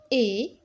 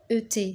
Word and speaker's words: et: Alors, Tania et ET se prononce et Nadia ont هذا muet هذا T ما نطقوش un D.